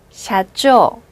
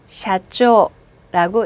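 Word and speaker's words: 社長: 사장은 얘를 한 번에 읽죠? 샤. 얘도 한 번에 읽죠? 초. 으. 다시 읽어볼게요. 샤초. 샤쪼. 예, 그렇게 읽습니다. 그럼 손님과 사장 한번 외우고 갈까요? 손님은 오캬상, 사장은 샤쪼라고 읽습니다.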